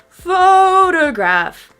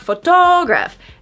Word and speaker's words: photograph: We stress the first syllable. Do you hear it? Photograph. Photograph. That's a little bit too much, right? But I'm just trying to show you. Photograph. Photograph, not photograph.